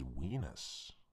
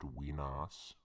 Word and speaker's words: Wenas: a grave error referring to our surroundings as Wenas. And it's actually pronounced Wenas.